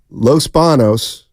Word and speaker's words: Los Banos: Our Los Banos, there's not an enye. Like the actor Eric Bana. Oh, it's not Eric Banya. Good call. Los Banos, and I'm pronouncing it without the tilde, is the anglicized word for Los Baños.